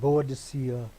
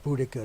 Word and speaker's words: Boudicca: there's a great queen bodacia or Boudicca depending on how you want to pronounce it Victoria this is the